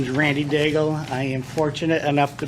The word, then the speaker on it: Daigle: I'd like to welcome Randy uh dagel is that how you pronounce it to the come on up welcome Randy thank you very much for the invite um my name is Randy dagel I am fortunate enough